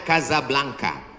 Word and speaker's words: Casablanca: Nama negaranya Maroko, ibu kotanya tulisannya Casablanca, cara bacanya Casablanca.